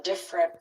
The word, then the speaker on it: different: They might pronounce all three syllables, but usually we would say, "Oh, we were on different flights." and we make it two syllables.